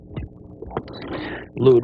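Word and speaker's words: looed: It's called a lewd wing. Don't start laughing. Lewd is spelled L-O-O-E-D.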